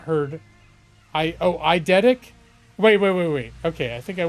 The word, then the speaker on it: eidetic: Eldetic? I thought your I was an L.